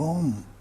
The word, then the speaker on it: Om: And that's what they put the manifestation down to, the subtle sound, the subtle vibration of Om. 3 syllables, A, U and M.